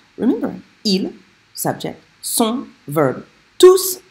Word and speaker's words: tous: So if you mispronounce this up here and you forget to say the S on tous, people will be thinking that you're saying something different.